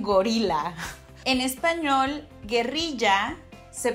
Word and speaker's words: guerrilla: So when I first heard Americans saying the word guerrilla, I thought that they were saying gorila. En español, guerrilla se pronuncia así. It's pronounced like this. Con la R del diablo. With that devilish R.